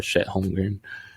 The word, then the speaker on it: Chet Holmgren: Hopefully, I'm proven wrong again with Holmgren or Chet Holmgren. Is that how you pronounce it?